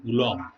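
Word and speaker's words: coulomb: জানো যে ইলেকট্রনের আধান সমান 1.6 ইন্টু 10⁻⁻19 কুলম। মহাবিজ্ঞানী কুলম্বের নাম অনুযায়ী এই কুলম্ব কথাটা ইউজ করা হয়েছে, কুলম, এরকম উচ্চারণটা হবে।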